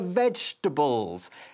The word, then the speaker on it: vegetables: También podrías tirar otra cosa, como por ejemplo nuestra palabra del día, que es the vegetables. Se escribe vegetables, pero nosotros lo decimos en tres sílabas.